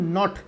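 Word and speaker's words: naught: इसको कैसे प्रोनाउंस करते हैं? Epsilon नॉट, KNOT।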